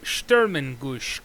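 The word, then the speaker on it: Sturmgeschütz: The Sturmengusch, I believe the pronunciation is. It's German.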